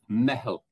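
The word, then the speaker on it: meitheal: It's M-E-I-T-H-E. I think it's probably Fada L. Maybe I'm not sure. But it's pronounced mehel.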